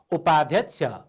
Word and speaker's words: उपाध्यक्ष: हेर्नुहोस् त, आधा ध अनि छ। उपाध्यक्ष।